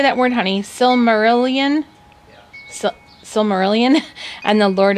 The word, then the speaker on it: Silmarillion: that how do you say that word honey Silmarillion so Silmarillion and the Lord of the Rings